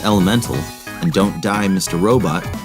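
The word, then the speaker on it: Element4L: PS3, as well as Element 4L, pronounced Elemental, and Don't Die Mr.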